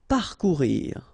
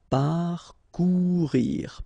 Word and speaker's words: parcourir: Parcourir. Okay, O and U together, ou, parcourir, parcourir. Rejeter.